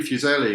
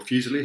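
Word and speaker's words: Fuseli: like in romantic history henry fuzelli or fusely however you want to pronounce it was not actually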